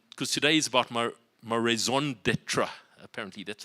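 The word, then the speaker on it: raison d'être: And because today is about my raison d'etre, apparently that's how you pronounce it, your reason for being, your reason to be, your raison d'etre.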